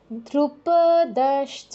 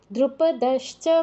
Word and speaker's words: দ্রুপদশ্চ: ছিল শুনুন ইউয়ুধানো বিরাটস দ্রুপদশ্চ মহারথহ ধ্রুপদশ্চ এরকম বলা যাবে না দ্রুপদশ্চ মহারথহ বলো দ্রুপদশ্চ মহারথহ